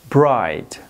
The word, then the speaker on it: bright: bright در کلمه bright جی اچ در وسط سایلنت یا بی صدا است.